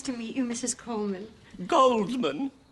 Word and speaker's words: Goldman: Goldman. I thought the D was silent. It is pronounced Coleman, isn't it? We've had some confusion. Oh, yes, Coleman. The D is silent in America.